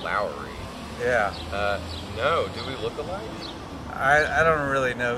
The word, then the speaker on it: Lowery: NFL kicker Nick Lowery it's pronounced Lowery yeah I don't really